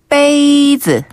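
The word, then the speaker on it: 杯子: 컵이란 단어를 배워 볼게요 컵은 베이즈 베이즈 한번 더 베이즈 베이즈 그렇죠 우리가 어 건배할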